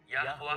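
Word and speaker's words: Yahweh: यो ए वाव ए है। तो इसको हम यावा बोल के प्रोनाउंस करते हैं।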